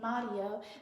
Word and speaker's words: Mario: It looks like it has an R in it, but the best way for us to pronounce it is with a D instead of the R, because that's often how you would pronounce Spanish words, is when you see an R, then it kind of rules it like a D.